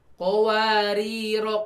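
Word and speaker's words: قَوَارِيرَا: Kedua kata ini cara membacanya sama ya saat diwasol. Kowariro kowariro sama tuh. Kowariro kowariro ya. Kan bulatannya beda. Iya, kalau diwasolkan mereka akan sama.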